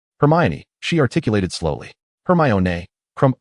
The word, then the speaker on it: Hermione: Seated together, Hermione patiently taught Crumb how to pronounce her name correctly. Hermione, she articulated slowly.